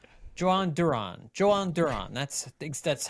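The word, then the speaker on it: Jhoan Durán: Joan Duran.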